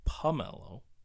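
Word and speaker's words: Pummelo: And this is spelled pomelo, like pummel, like to beat up, like to pummel somebody.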